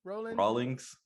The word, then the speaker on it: Rawlings: Cliff Rawlings? Rawlings, like the baseball gloves. Like the baseball glove Rawlings.